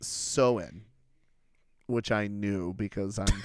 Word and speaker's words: Samhain: celtic festival of samhain s-a-m-h-a-i-n uh it's actually pronounced so in which i knew because i'm smart but the